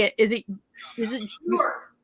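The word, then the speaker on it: Björk: York. Bjork. You say, okay. The J is silent.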